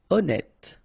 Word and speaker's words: honnête: Honnête, so remember, H doesn't exist, honnête.